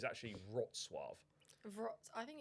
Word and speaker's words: Wrocław: It's actually called Wrocław because I done a TikTok, right, and got absolutely battered in the comments by these Polish people criticising my pronunciation.